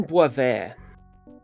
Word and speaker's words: Bois Vert: It's spelt like Bois Vert. B-O-I-S-V-E-R-T.